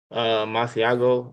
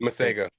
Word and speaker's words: Masego: Masiago, I might be saying his name wrong. Masego.